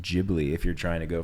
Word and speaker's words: Ghibli: When we named the cat, we named it Ghibli, and then people were like, "It's pronounced Ghibli if you're trying to go for the movies."